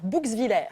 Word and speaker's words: Bouxwiller: Comment je prononce? Alors, Bouxwiller, Ah, ça va.